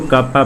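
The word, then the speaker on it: κ: जैसे यहाँ पर रजिस्टिविटी है, ओम इसको पढ़ते हैं, ये ओम इसको पढ़ते हैं, वैसे ही इसको कप्पा पढ़ते हैं, प्रोनाउंसिएट करते हैं, के नहीं। तो कप्पा इक्वल टू 1/ρ रेसिप्रोकल है।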